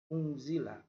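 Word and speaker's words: أُنْزِلَ: Yaitu pertama didengungkan. Unzila, unzila. Nah, seperti itu ya. Nanti di rumah bisa dipraktekkan. Yang kedua yaitu huruf za itu juga termasuk huruf ikhfa. Mengapa alasannya? Karena nun mati.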